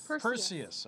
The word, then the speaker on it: Perseus: man how do you say this name here Perseus okay Perseus is helpless to save his family